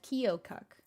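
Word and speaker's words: Keokuk: in iowa that we went to was called kyokuk we even googled it to see how you pronounce it that's how you pronounce it we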